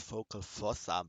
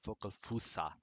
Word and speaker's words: Focal Fossa: yeah I heard it somewhere it's actually not focus awesome but focus fossa which really really really really may be double